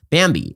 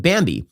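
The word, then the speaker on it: Bambee: an average of 70 000 bucks a year bambi it's spelled b-a-m-e-e it was created specifically for small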